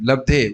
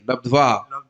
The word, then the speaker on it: लब्ध्वा: Mistake in pronunciation. Labdhe. Where is the labdhe here? Labdhva.